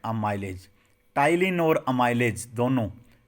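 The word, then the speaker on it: ptyalin: टाइलिन और amylase दोनों, पी होता है भाई, पी साइलेंट होता है। ये स्पेलिंग भी पूछी जा सकती है, टाइलिन पढ़ोगे आप इसे, पी साइलेंट होता है।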